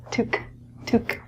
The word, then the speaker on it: toque: is a winter hat the pronunciation of this word is different than the spelling because it's French this is spelt - took took the word itself qu